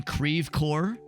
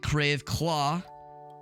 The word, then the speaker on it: Creve Coeur: After this, we're gonna go and head over and that one bar in Creve Coeur, because that's how you pronounce it. It's definitely not Creve Claw.